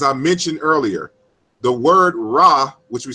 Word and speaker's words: Ra: So when you say Ra, it's 3 consonants that you have to pronounce historically.